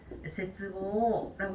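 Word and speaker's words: 切望: 자, 위에는 지금 보시게 되면은 세츠보라고 읽고 있지만 밑에 끈을 절자가 들어가게 되면은 얘는 타금이 붙어야 돼요. 제츠보라고 읽어주시면 되겠습니다.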